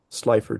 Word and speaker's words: Slipher: Slipher to pronounce it correctly, Mhm.